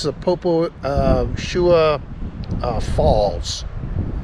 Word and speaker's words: Agie: the poposhua falls trail that agi is pronounced shua um and we've got